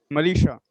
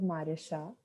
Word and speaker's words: Marisha: also about her experience malisha i pronounced my name as marisha yeah so um i